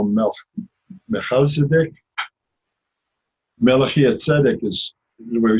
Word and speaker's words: Melchizedek: Melchizedek? I've heard it different ways. I prefer the Jewish way of it because it's Melchizedek.